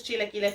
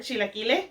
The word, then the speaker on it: chilaquile: I'm actually going to go have this delicious chilaquile for lunch. I hope that you had fun today. I hope you learned something new. Even if it was just how to say the word chilaquile.